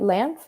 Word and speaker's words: LAMF: Okay, so how did this career in activism lead you to, how do you say it? LAMF? Is it LA? Yeah. LAMF? Okay. We say Land Foundation.